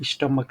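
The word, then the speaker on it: stomach: होता है ना, जैसे स्टमक लिखते हैं, तो सी एच में लास्ट में आया, बट इसका स्पेलिंग के हिसाब से इसको प्रोनाउंसिएशन करेंगे स्टमक, लास्ट में स्टमक, लास्ट में क आएगा।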